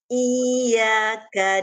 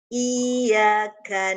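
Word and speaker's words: إِيَّاكَ: Iyaka na'budu wa iyaka nasta. Iyaka na'budu wa iyyaka nasta. Ibu Eka. Ibu Eka sebenarnya sudah bagus bacanya. Hanya saja Ibu kadang hilang fokus saat membaca iyaka.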